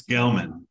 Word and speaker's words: Gelman: put this thing in Gelman is that how you say it it's Gelman I think there's a